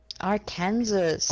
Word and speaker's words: Arkansas: Arkansas.